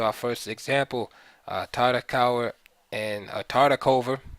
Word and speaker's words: Tartakower: Tartakower and Tartakover, right? The W's are pronounced as V's in English, so Tartakover and Lasker, New York, 1924.